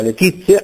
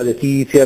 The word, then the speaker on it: Letizia: questa Z è raddoppiata Letizia è raddoppiata mestizia è raddoppiata si sente a volte pronunciato male arguzia Letizia mestizia A proposito di